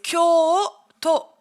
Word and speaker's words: Kyoto: C'est Kyoto. Et du coup, le to n'est pas allongé. Contrairement à Tokyo, où là, c'est allongé. Et puis ça, à cause des épreuves Squid Game.